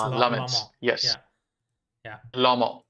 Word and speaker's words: Lammens: So Lammens, or however you pronounce his name. Yeah, it's Lammens.